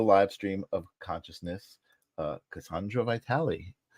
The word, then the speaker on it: Cassandra: um so how do you how do you pronounce your name I say Cassandra you do say Cassandra okay and then I